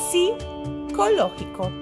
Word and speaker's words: psicológico: Así que psiquiatra, psicolo, psicológico, sin nada de p, ¿cierto, chicos?